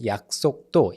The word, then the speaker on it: 약속도: And then the next one is 약속도, 약속도, okay? Double sounds in the second and the third syllables.